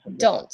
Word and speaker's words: don't: I can see that in the last T is silent. Don't. Don't. No, I think you emphasize the T towards the end.